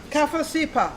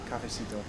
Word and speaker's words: cafecito: Cafecipa. Cafecito. Cafecipo. Cafecito. You pronounce it.